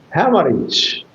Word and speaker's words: hemorrhage: So hemorrhage has three syllables. H man rich have man rich clear and it is a tricy word and with your closed eyes you will give the accent on the first syllable.